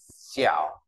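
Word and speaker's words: 小: Bên dưới là bộ tiểu, nó về nhỏ bé đọc là xẻo.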